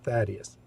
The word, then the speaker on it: Thaddeus: First, this highly important question: how is Thaddeus pronounced? I just told you, Thaddeus.